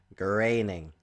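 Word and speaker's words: Groening: The shows I'm referring to are Family Guy were created by Seth Mcfarlland and The Simpsons created by Matt Graining. Graining. That's how it's pronounced, guys.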